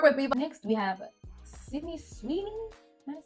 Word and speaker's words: Sydney Sweeney: Next, we have Sydney Sweeney. Am I saying it right? Sydney Sweeney.